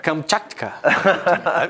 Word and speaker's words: Kamchatka: Kamchatka. Que pronúncia.